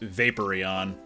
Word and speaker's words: Vaporeon: into Vaporeon although by all accounts it should be pronounced Vaporeon so we have a